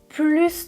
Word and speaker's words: plus: Quand il y a que, dans ce cas-là, c'est une comparaison. Livre, c'est un nom. Plus de, je prononce le S à la fin du mot plus.